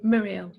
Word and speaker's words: Muriel: So it rhymes with squirrel. Squirrel, Muriel.